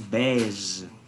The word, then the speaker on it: beige: On prononce beige.